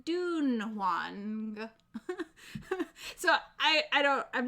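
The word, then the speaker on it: Dunhuang: um because it's pr it's spelled d-u-n-h-u-a-n-g so i said done one but i think somebody said it's supposed to be like more like dune wang so i i don't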